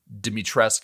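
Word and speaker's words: Dimitrescu: everybody loves uh uh dimitressk and everybody in my youtube comments corrected me that it is actually that that you do pronounce the you i don't know but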